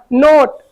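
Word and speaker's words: note: यहां पर पहला एग्जांपल है एन ओटी ई नोट क्या पढ़ेंगे नोट तो यहां पे देखेंगे एन का उच्चारण ना इस ओ को हम लोग ओ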